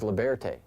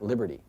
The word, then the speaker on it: Liberté: This is Liberté, not Liberty.